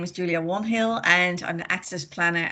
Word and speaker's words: Wainhill: Julia Wanhill, yeah, sorry, I'm terrible with pronunciations. Julia, are you there? Good afternoon, everybody. So my name is Julia Warnhill and I'm the Access Planner at City of Port Phillip.